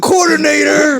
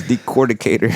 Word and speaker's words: decorticator: Nobody's ever kicked out of the coordinator. What? Oh my God. but the dude, Jay, we haven't kicked out of the coordinator. but the dude had all the trees. You're saying it wrong. It's decorticator.